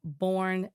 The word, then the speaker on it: Burnet: I'm assuming that's how you say it. But no, Burney. Ooh. I just looked at the phonetics. Or is it Burn? No, it's Burn-E.